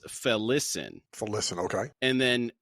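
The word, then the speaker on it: Felisin: oh okay and then we've been saying felican he says felicin for listen Okay and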